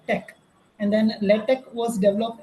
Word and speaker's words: TeX: It was invented as TEX, but it is pronounced as tech.